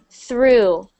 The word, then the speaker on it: through: That is, so you are thinking of though, but that word is actually through. Through. So although it's the exact same spelling, when we add that R in, it becomes the word through.